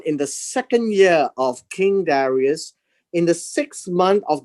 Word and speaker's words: Darius: In Haggai chapter 1, in the second year of King Darius, in the 6th month of the first day of that month. And this is the King Darius. Now, the word Darius is an English translation.